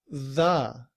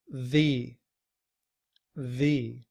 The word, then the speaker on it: the: Here we have the word doctor and we pronounce this word 'the'.the the. But look at what happens to our pronunciation if the word afterthe' begins with a vowel such as the word end. Then we aren't using this pronunciation 'the'. Instead, we're saying the the and in this sentence we